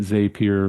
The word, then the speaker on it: Zapier: You know, it's what my uh argument Zapier rhymes with happier is a good way to remember it for sure.